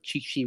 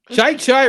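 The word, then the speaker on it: Chi Chi: There was the whole thing where he could not pronounce the name of golfer Chichi Rodriguez. Chai Rodriguez. Rodriguez.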